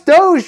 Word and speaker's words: Doge: Doge. No, it's Doge. You pronounce it Doge.